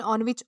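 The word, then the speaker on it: ennui: तो दोस्तों, इसे ऑनवी प्रोनाउंस किया जाता है, जिसका मतलब होता है boredom and frustration in life, यानी कि उदासी।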